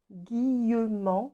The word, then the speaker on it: Guillemant: Guillemant, comme ça se prononce, et ça se finit par M-A-N-T.